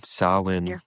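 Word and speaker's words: Samhain: Sawin. Sawin. I don't know what they were saying, but I know. Well, it's spelled Sam Hayne.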